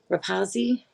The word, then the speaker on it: Rapazzi: But what's ironic, in 2023, it seems that Miss Lisa Rapazzi, I believe that's how she said to pronounce it last night on the body cam. Rapazi is how she said it.